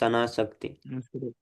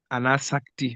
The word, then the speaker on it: Anasakti: Prabhu, is it Shak or Sak? The Anasak, because I don't see the apostrophe above the S or below. So do we pronounce the S as S, ne, Prabhu? Yes, Prabhu, this is Anasakti. Anasakti, okay, not Shakti.